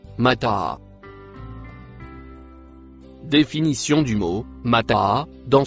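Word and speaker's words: متاعا: Le mot en rouge se prononce Mataa.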